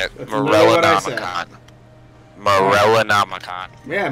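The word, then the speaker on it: Morellonomicon: Morella Namakan. Morella Namakan. Yeah, Malamanakan.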